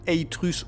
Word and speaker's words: Atrus: De la même façon il faudrait dire Eitrus au lieu d'Atrus, mais même en faisant attention, je le prononce pas d'une fois sur deux.